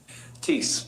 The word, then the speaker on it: Thies: Tease, the H is silent.